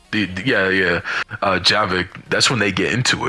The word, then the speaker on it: Javik: and after that mission, that's when her and Jarvis, so how the fuck you pronounce his name? Yeah, Javik.